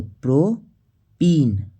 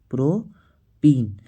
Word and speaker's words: प्रोपीन: पे है prop prop और इसमें उच्चारण हुआ था इनका तो प्रोपीन प्रोपीन तो स3 ए6 किसका सूत्र है